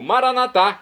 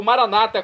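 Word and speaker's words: maranatha: eu clamo do aramaico maranat como dizemos nós católicos ou Maranata como dizem nossos irmãos separados os evangélicos ou protestante não importa a pronúncia o significado é o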